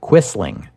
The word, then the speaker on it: Quisling: the Scandinavian languages and in English we English speakers pronounce it quisling this usage appeared almost